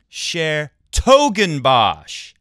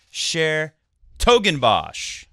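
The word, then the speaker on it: 's-Hertogenbosch: oh speaking of coaching Sher toen BOS like like big toe share toen BOS is how you say that tournament that City that place you can also say dbos which I understand if you translate it from natland talk from Dutch it means uh magical forest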